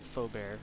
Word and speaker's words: Faubert: Oh yeah, and it looks like Faubert, just so you know, you pronounce his name Faubert. It's French, apparently.